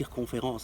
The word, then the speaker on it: circonférence: You might learn, I don't know, the word circumference or circonférence. Oh, that's how you say it in French, circonférence, that's useful to know.